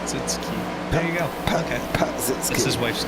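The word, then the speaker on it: Pazsitzky: No, that's how you pronounce it. The actual spelling is the actual spelling is P-A-Z-S-I-T-Z-K-Y. Okay. So that's why there is 2 Z's in her name. It's just apparently not pronounced as both.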